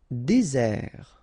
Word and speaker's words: désert: Désert, okay, remember, final T not pronounced, désert, and really this z sound just because you get one S between the two vowels, okay, z, désert.